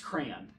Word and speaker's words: crayon: No, just crayon. One syllable. I say like crown, like a king's crown.